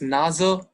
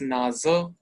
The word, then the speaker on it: Nase: N is Nase. Nase is for nose. N-O-S-E. In English, here it's Nase. So S pronunciation is Z. And Z pronunciation is S. So you'll see that Nase for nose.